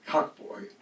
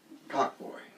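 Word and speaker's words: Cokboy: So it's called Cockboy. It's spelled C-O-K-B-O-Y, but why is that important? It's all pronounced the same way.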